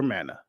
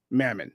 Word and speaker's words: Mammon: have a choice to serve either God or Mana Mammon excuse me that's why I knew I said